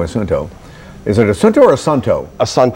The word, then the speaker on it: Assunto: Is it Assunto or Assunto? Assunto. How do you guys pronounce it?